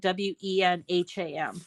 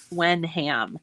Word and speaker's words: Wenham: ham um so when um is really spelled w-e-n-h-a-m when ham but it's pronounced uh Wenham and then uh we've got